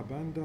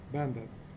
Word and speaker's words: pandas: بالمناسبة الباندا في ناس بحكولها باندا وفي تانيين برضو بحكولها بانداز الأس. تمام فالأسهل باندا. كيف؟ لا مش كمسمى، أنا بحكي كنطق إنه الأس سايلنت ولا مش سايلنت. بحكي لك في الكوميونيتي تبعت الداتا ساينس اللي هو انت صرت جزء منهم. تمام ففي ناس بيحكوها هيك وناس بيحكوها هيك، في ناس بيحكوا باندا وفي ناس بيحكوا بانداز. تمام فاحنا بالنسبة لنا بنختار الاسهل في النطق باندا بدون اس الدب.